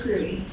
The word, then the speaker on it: Cruey: I want to introduce you to my friend Laura Cruey. I had to make sure to how to say her last name, but it's Cruey.